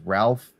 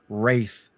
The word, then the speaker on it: Ralph: No, it's kind of weird because the way his name is spelled, you would think it's Ralph, like Fiennes, but it's Rafe Fines.